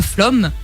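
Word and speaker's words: Flåm: cœur, c'est d'aller à Flom. Donc ça s'écrit flamme. Flamme, mais ça flomme, ok. C'est Flom.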